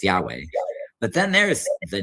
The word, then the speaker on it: Yahweh: So what happens is that Like in particular, there's the personal name of Israel's God, which is given 4 Hebrew letters, which would be YHWH, usually pronounced Yahweh.